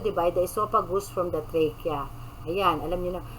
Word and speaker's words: trachea: the esophagus from the trachea. Ayan, alam niyo na. Yung ibang pronounce dito, trachea. Diba? So, dapat medyo gandahan naman natin, trachea. Wag trachea. Talagang Tagalog na Tagalog.